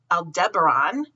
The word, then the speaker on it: Aldebaran: today um we have opposition of aldera let's pronounce it correct guys aldebaran and antares today which is the eye of